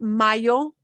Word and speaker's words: mayo: else in the word, it'll sound like a Y, like in English, exactly like Y. So you'll get mayo, Mayo.